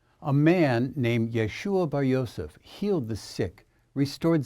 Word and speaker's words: Yeshua: The original pronunciation of his name was Yeshua or Yeshua, a derivative of the name Joshua.